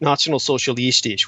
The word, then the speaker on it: Nationalsozialistisch: The Nationalsozialistisch, which is the correct pronunciation for the National Socialists, they were essentially very much an occult movement.